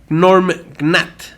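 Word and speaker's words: Gnorm Gnat: Entonces, en 1973, Jim hace la tira de cómics Norm Gnat. ¿Quién sabe cómo se pronuncia?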